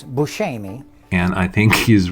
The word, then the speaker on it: Buscemi: He said this looks like correct, like Sicilian pronunciation is Buscemi.